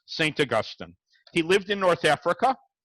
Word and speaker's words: Augustine: of the church fathers, St. Augustine, I'm saying it with the British pronunciation, St. Augustine. If I were to say St. Augustine, you'd think that's where everybody from Highland Park goes during the winter.